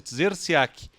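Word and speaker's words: Trzeciak: Então é T-R-Z-E. Então depois de 3 consoantes vem a primeira vogal. Então é difícil a pronúncia, Tzerciak.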